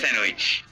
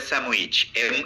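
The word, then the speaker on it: sandwich: স্যান্ডউইচ স্যান্ডউইচ ডি বাদ দিয়ে আবার স্যান্ডউইচ ডি উচ্চারণ করো না বলো করো স্যান্ডের মধ্যে ডি নাই তাহলে কি স্যান্ডউইচ স্যান্ডউইচ স্যান্ডউইচ স্যান্ডউইচ আর আরো দ্রুত কানেক্টেড স্পিচে বলে স্যামউইচ এম দ্বারা রিপ্লেস হয়ে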